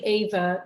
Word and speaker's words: Eva: yeah, I say Ava just because Ava. it would have been that in German, Yeah, yeah.